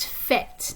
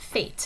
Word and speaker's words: faites: And it is pronounced fête, not fate. It looks like fate, but it's fête.